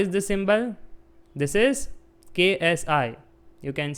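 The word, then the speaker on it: ξ: this symbol this is KSI you can say it as sky okay or s generally k is silent we say it as s but it is ksi Nevertheless, you can take any symbol you want.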